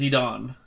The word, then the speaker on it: Zidane: Depends on if it's a Japanese name or not. Because if it's not a Japanese name, obviously you don't pronounce it like a Japanese name.